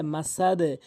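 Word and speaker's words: مسد: Aden মিম জবর মা scene জবর সাল দুইদিন মাসাদিন ওয়াকফ করলে মাসাদে মাসাদে এখানে এখানে বলা হয়েছে কলকলার হরফে ওয়াকফ হইলেও কলকলা করিয়া পড়িতে হয়।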